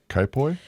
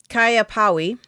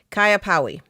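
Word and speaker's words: Kaiapoi: hands the dad from kai poi no kaya powi new zealand i had to look it up i had to look up the pronunciation kaya powi new zealand and i probably am still butchering it had been chopping off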